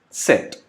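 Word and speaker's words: Zett: Then last Z, which is pronounced as Set.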